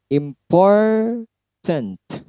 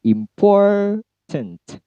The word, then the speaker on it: important: Important. Important. Pour-nya yang tinggi, im-nya rendah, pour-nya tinggi, tent-nya rendah. Important.